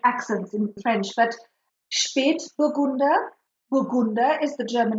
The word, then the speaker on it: Spätburgunder: Spätburgunder, yes. Spätburgunder. What is that umlaut, those two little dots? How do we handle pronunciation when we see that?